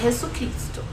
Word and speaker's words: Jesucristo: Se você quiser falar Jesus Cristo, você vai falar Jesucristo. Jesucristo é el Senhor, certo? Tudo junto. E não se esqueça que o som de J tem som de R na pronúncia, tá?